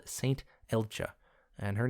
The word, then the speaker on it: Elcga: Elcha, and her name is spelled E L C A, which is a weird way to pronounce Elja, but when you start